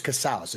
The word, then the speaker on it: Casaus: So my name's Casaus. It rhymes with house.